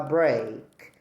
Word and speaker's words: break: The other word is B R E A K. At 7:50 p.m., my class gets a break. Again these two words have the same pronunciation but they are different.